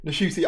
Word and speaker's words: Ncuti: and Russell have, I keep saying it wrong, Ncuti, I'm going to have to get used to that, Ncuti, I'm going to have to get used to saying the name correctly.